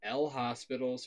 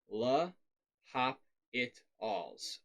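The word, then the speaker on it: L'Hôpital: a little bit strange not that hard to pronounce it's not l hospitals through something like that it's la hop it alls l'hospital's rule so the basic gist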